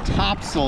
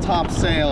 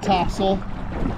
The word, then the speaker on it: Topsail: It's Topsail, not Topsail.